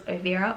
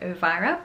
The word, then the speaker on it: Ovira: here so it says ovira i'm pretty sure that's how you pronounce it i wasn't sure if it was ovira or uvaira but every time i've heard people say it i've heard ovira i'm just going to